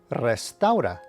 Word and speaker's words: restaura: Tip number 2, whenever you see an R at the beginning of a word, you should give it a slight trill or roll the R as they say. For example, this word is pronounced reposo, which means rest. And this word is pronounced restaura, which means restores.